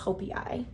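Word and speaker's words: joepii: It's spelled like jopi, but I think it's pronounced hopi.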